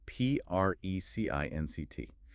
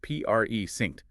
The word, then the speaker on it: precinct: Precinct. Pronounced Pre-synced. The sound's close, definitely. Got to be careful not to mix them up.